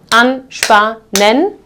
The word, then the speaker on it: anspannen: So when we look at the syllables here, anspannen, so 3 syllables, and the second one actually starts with SP, so this will also be pronounced as sp.